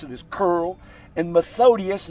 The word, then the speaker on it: Methodius: cyril not curl if you're rushing you might pronounce it as curl and methodius not methodist i've had so many people say methodist 1897 to 8 19 16.